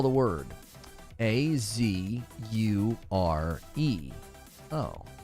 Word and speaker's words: Azure: year you should Google how to pronounce azure I know this is hard to believe but you're saying it wrong how do you pronounce that azer it literally looks like Azure oh Azure like a cure azure azer I I